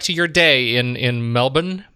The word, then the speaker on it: Melbourne: your day in in Melbourne Melbourne Melbourne with just a just a couple of syllables uh but again nick